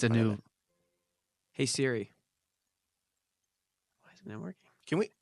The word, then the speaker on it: Siri: always refer CH voice Siri settings Siri settings that just got we got that that series I tried to escape it that's Siri and that's how you say it Siri not Siri you know what this